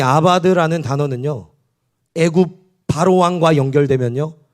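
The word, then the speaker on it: עבד: 이 단어는요, 아바드라고 읽습니다.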